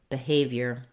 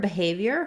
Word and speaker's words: behavior: In this video, we'll look at how to pronounce behavior. So the word behavior has the stress on the second syllable have.